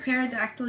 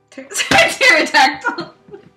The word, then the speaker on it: pterodactyl: Why can't you hear a pterodactyl using the bathroom? Pterodactyl! What did you say? Pterodactyl. I don't know what. Why? Because the P is silent.